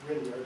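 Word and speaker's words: Grignard: this is called the grard reagent it's it's pronounced grard not grard this is correct we this behaves like it's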